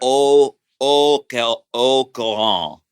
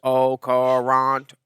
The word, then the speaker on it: au courant: Au courant. How you spell it? The T is silent. Mama, this T is silent. This T will never be silent, Mama. Au courant.